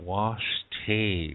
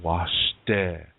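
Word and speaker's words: wašté: say Lila washed it it's not washed a we don't have the a sound if you see that a lot you hear that a lot on YouTube and in places like that that's incorrect pronunciation it's washday Lila means really and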